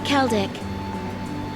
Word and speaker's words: Celdic: The next stop is Kelik. Kelik. See you there. For all you thought that I was pronouncing Seldic wrong.